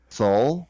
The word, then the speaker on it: Seoul: spent enough time in Wait, what did you just call it? Seoul. Soul? Seoul, yeah. See, this Yeah, it's this pronounced is soul.